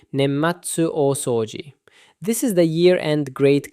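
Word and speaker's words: 年末大掃除: Pronounced roughly nematsu osouji.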